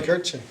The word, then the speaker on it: Markneukirchen: Markneukirchen. I said it right. Fuck, can you believe that? Markneukirchen.